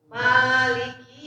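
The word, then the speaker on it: مالك: Maliki yaumiddin. Nah, ma-nya jangan terlalu panjang, Bu ya. Ma-nya 2 rakaat.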